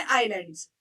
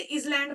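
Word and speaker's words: island: फिर हमारे आइलैंड्स। इन्हें बहुत सारे बच्चे इजलैंड पढ़ते हैं। इजैंड गलत प्रोनंसिएशन है बेटा। इसको आइलैंड पढ़ते हैं। एस यहां पर साइलेंट है।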